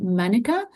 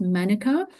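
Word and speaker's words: mānuka: compound found only in manuka. So you can see the difference in pronunciation. So because the a has that little line in New Zealand they call it manuka while in Australia we say manuka uh mana flower nectar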